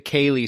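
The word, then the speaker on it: ceilidh: is kind of the Kaylee sound, right? Like Right. the dancey fun part. Right. Like how I used my Irish saying there. Yeah. And you didn't pronounce the D. Well, you're not supposed to.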